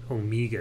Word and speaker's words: Omega: omega that he wore or omega omega is the way they pronounce it in britain and it sounds sort of affected to me though i